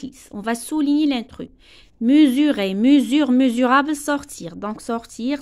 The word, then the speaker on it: mesurer: Ni yaqiso, mesurer. S. Donc, on a deux voyelles. E, U. Donc, S entre deux voyelles, ça se prononce Z.